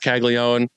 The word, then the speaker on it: Caglianone: Let's talk about some ADP risers, and I'd be remiss if I didn't mention Jac Caglianone, to use the traditional Italian pronunciation here.